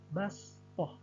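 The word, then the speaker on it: بَسْطَةً: Kata basṭah ditulisnya shad, namun pada saat dibaca menjadi sin, menjadi basṭah.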